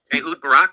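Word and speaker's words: Barak: They are blackmailing uh uh uh the Israeli former Israeli prime minister uh Barack.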